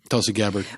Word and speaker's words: Tulsi Gabbard: Tulsi Gabbard.